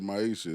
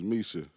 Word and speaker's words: Misha: Because you said Maisha. It's Misha.